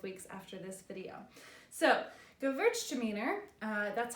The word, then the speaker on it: Gewürztraminer: next couple of weeks after this video so go Virg demeanor that's how it's pronounced the W in there is pronounced okay